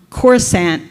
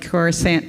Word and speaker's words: Coruscant: habitable zone next um corsant which apparently I mispronounce but it looks like Coruscant to me um it